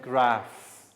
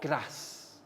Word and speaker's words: graph: graph altogether guys line graph graph not grass graph like letter f or ph pronounce f graph line graph and